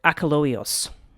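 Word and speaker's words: Achelous: me see if I can say it right aoos that's how you would say the name and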